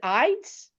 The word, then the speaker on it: Ides: last name it's Rose is it Ides you have eyeses like the Ides of marsh Rose Ides is the